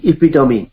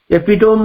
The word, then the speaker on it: epitome: शाश्वतर समुद्भासित मूर्ति इपिटोमी बहुत अनेक व्यक्ति कहबार मैं शुणी एपिटोम बोली कहते EPITOME तार एक्यूरेट प्रोनाउंसिएशन होची इपिटोमी यू can follow the dictionary आपण गूगल सर्च कर पारंती एपिटोम नुहे इपिटोमी जेमती कैटास्ट्रोफी अपोस्ट्रोफी साइकी लास्ट